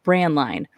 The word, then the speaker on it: Braendlein: and you're there uh it's pronounced brand line brand like brand cereal and line as in walk one so brand line